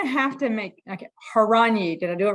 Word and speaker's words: Horanyi: All right, Danny, you're going to have to make, okay, Horanyi. Did I do it right? That's right. Yeah. There you Excellent go. There you pronunciation.